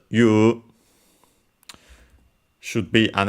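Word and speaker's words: 言う: we have the verb the verb you also uh written and andor pronounced even when written as eu also pronounced as you should be an accent.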